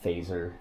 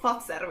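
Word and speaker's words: Fazer: cuz I'm like Canadian so I read it as phaser. Yeah. Yeah. And like it's not like a phaser like in Star Trek. It's how do you say it right? Fatser is fats.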